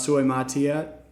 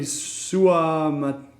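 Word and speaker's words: Suamataia: The best tackle is Suey Matia. Taya. I don't. Oh God, I butchered that. Kingsley something. Kingsley Suamatea. Yeah, that's closer.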